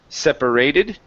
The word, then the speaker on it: separated: the word separated so our stress is here at the very beginning instead of separated it's separated try that separated good all right